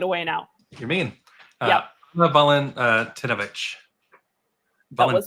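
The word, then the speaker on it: Anna Walentynowicz: Anna Valentinovich. That was not bad. Mm-hmm. Anna Valentinovich.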